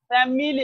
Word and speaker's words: family: ফ্যামিলি, আমরা বলি ফ্যামিলি, ফ্যামিলি, আমরা এখানে ই এর মতো উচ্চারণ করি, কিন্তু আসলে এই আইটা হচ্ছে শোয়া, একেবারে শর্ট।